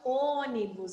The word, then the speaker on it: ônibus: ônibus não eu falo ônibus Então eu fechei esse som do então o acento vai ser no ou ó ônibus se não tivesse o acento ficaria ônibus né e não é ônibus eu vou usar acentuar